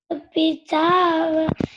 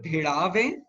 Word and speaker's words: भिड़ावे: Ashur pitava dushta pracha. The one with there is a dot below D, so it is pronounced as D, not as D. So asur bhidave dusht prachand, that way.